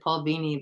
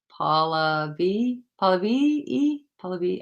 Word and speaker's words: Paula B: i think i said paul beanie but i think it's paula b e i'm so sorry i